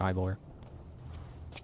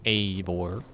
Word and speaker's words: Eivor: Climb the cart, Ivor. Or Eivor. I always forget how to say it. I think it's Eivor. But I keep doing Ivor.